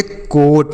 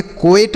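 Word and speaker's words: coat: सी ओ ए टी इसे हम पढ़ेंगे कोट। क्या पढ़ेंगे? कोएट नहीं पढ़ना।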